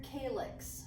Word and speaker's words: calyx: Major and minor calyx, that's how you pronounce that.